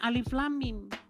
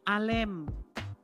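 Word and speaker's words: الم: Ternyata, ternyata itu bacanya bukan alif lam mim. Itu bacanya itu alem.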